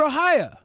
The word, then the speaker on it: Ohio: yes it is oh my family from ohio pronounces it ohaya okay ohaya they're from